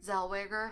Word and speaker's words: Zellweger: Zellweger.